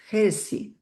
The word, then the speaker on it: heresy: uh of lunacy and heresy lunacy yeah your pronunciation's pretty good so lunacy and heresy. So the the H we say the H. So it's definite H sound there.